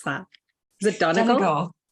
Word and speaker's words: Donegal: How do you pronounce that? Is it Donegal? Donegal.